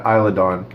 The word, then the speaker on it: Isla Dawn: but it's I'm lagonda S is silent yeah sorry yeah isla dawn I'll get I'll get